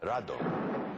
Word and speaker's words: Rodan: movie filmed in color Rodan which in Japan was called radon you know it's the